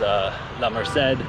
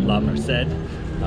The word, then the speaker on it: La Merced: So this is La Merced, which I believe is how it's pronounced, not La Merced.